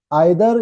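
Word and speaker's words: either: इसी तरह आइदर या ईदर दोनों पढ़ते हैं इसको, दोनों प्रोनाउंसिएशंस है।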